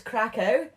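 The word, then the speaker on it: Kraków: I pronounce it as Krakow.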